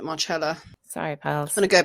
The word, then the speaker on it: Marcella: essentials of italian cookie markella oh yeah we have an apology to make actually yeah we do marcela um because we're ignorant people you apparently pronounce it marcella sorry pal i'm gonna